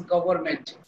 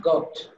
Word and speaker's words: government: But every time I always mentioned you should pronounce government, not gopt.